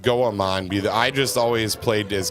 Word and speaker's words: Goemon: It's pronounced Goemon.